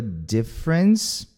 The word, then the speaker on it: difference: They hear a difference, esse I curtinho, difference, duas sílabas.